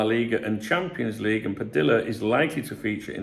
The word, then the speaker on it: Padilla: Athletic Club, Padilla, in Spain, double L is pronounced Y, but it depends where people are from.